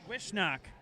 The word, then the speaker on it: Wozniak: Wishnock. You better pronounce these.